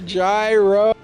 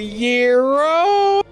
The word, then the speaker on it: gyro: He's gonna get a gyro, although it's technically pronounced the Euro.